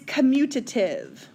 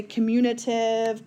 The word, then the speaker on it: commutative: the next one is commutative I've I've gotten some interesting answers for this people say communitive community like it's it's interesting so this is the